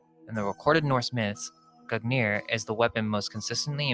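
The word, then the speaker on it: Gungnir: Nordic, Gugnir, Old Norse Gugnir swaying, pronounced Gugnir, is the name of the mighty spear that belongs to the old god Odin.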